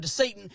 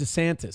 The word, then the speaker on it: DeSantis: a low-cost immigrant detention camp built by Ron DeSatan in the Florida Everglades. It's pronounced DeSantis. See, this guy doesn't even know the people he's talking about. He called him Ron DeSatan.